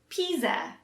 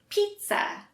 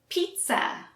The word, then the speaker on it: pizza: spelled you might say pisa but that's incorrect for americans we say pizza so we don't pronounce the z sound at all it's more of a t and s sound let's practice pizza pizza what toppings do